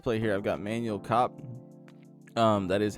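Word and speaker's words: Kape: I've got Manuel Kopp.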